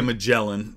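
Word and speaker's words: Magellan: nine have no idea I know that's not how you say his name in Portuguese or American but that's the British way so we say mellan in in American English uh five correct answer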